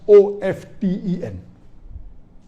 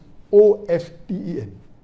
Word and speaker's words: often: Some will say often, some will say often. Previously it was often, then it became often. Now new people are saying no, often is correct. T is not silent, it should be pronounced. Some say T is silent, and then there's a big debate for that. But we realize that both are correct in their own ways.